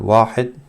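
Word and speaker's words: واحد: So this is called Sifr, and this is called Wahid. You can use W or you can use a V, that's up to you.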